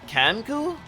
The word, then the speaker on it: kenku: what I can tell kenku are pronounced from the e Andres eh cat cat cancoo uh I've been saying kinku for years uh I think